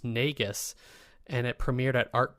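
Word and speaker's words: Negus: Um his latest album from 2019 is pronounced Nagus and it premiered at Art Basil in Hong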